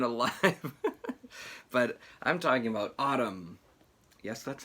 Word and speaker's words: ATUM: as you've been alive but I'm talking about Autumn yes that's how that that's pronounced um Autumn by Smashing Pumpkins uh which